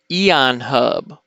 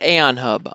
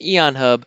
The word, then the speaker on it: Aeon Hub: card button and today we are looking at Aeon hub Aeon hub not a on hub I'm fairly certain that is pronounced Aeon hub which makes sense because it starts with an